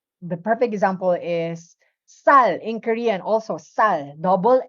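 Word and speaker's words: 쌀: So it's like saying double S without aspiration. The perfect example is sal in Korean, also sal, double S ang gamit din doon. When you say sal in Korean, it's rice.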